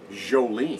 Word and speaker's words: Joulene: And my daughter's name is spelled Joulene. Jolene.